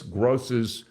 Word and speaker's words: Groce: and this is Miss gross's fifth grade class aren't they wonderful that how you say her name Miss gross it's g r o c e and she'll be